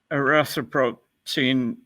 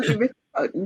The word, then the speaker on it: erythropoietin: the ones that are used for producing human erythropoietin, HEPO? I'm not sure I pronounced that correctly. Right, you got it. Human erythropoietin, yes.